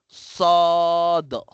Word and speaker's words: ص: Sad sawa sa nakaganyan siya no sad.